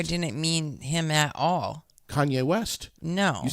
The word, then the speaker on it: Kanye: love Kanye West because you said Kane that's how much you love him no he's pissed that you mispronounce his name right I know he's